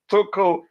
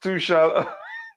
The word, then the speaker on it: Tuchel: this past season, the last 2 seasons, or let me say under Thomas Tuchel, has been, you could say, one of the best in the Premier League, at least.